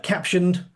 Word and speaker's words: Captioned: Yes, it's pronounced caption, but a lot of people because of that period and then the ed say caption.ed captioned ed.